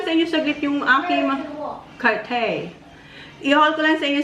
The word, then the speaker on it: Cartier: Sa how you pronounce it? Cartier. Cartier.